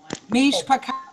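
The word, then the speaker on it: מִשְׁפָּחוֹת: Mishpakot. You see that dot over the top of that Y, which make an O sound. Mishpakot.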